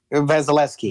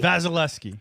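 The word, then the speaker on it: Vasilevskiy: the goalie how do you say it Trent vasileski vasileski all right vasileski so big game Monday night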